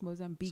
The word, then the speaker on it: Mozambique: in mozambique mozambique mozambique no you don't pronounce it's not que it's just mozambique so where's the u